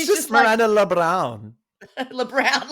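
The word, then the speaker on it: Lebrão: LeBrown, like it's LeBrown.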